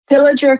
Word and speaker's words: Pillager: is again, because I always screw up the pronunciation. Pillager Clay Target Team.